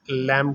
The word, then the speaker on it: lamb: भेड़ बकरी का गोश्त लैम कहलाता है। और इसको अपने प्रोनाउंस लैम करना है, बी यहाँ पे साइलेंट है।